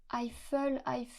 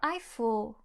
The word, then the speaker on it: Eiffel: » La personne vous répondra sûrement : Aïffeul ? La tour Aïffeul ? Je connais pas, désolée. La tour Eiffel, comme ça.